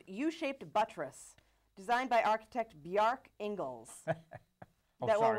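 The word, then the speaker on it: Bjarke: Bjorn, not Bjork. No, Bjark. He's Bjorn? B-J-A-R-K-E. Thank Bjark. you. Well, he couldn't spell it.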